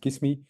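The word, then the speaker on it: Cyssamme: uh to invite um kiss me in this case so yes you can spell it out as c y SS am me but it's actually much easier if you call it kiss me um and as you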